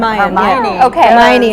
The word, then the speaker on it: Hermione: Ron and uh how do you say Herm Hermione is the girl and they all just had